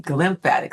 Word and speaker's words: glymphatic: When you sleep, a part of your system that's called the glymphatic system. It mm, rhymes with the lymphatic system, but the glymphatic system goes to work.